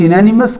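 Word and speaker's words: unanimous: Will possibly be यूनानिमस, यूनानिमस का उच्चारण यू का उच्चारण यू हो रहा है, यानी फर्स्ट साउंड वाई का आ रहा है, अतः ए करेक्ट है।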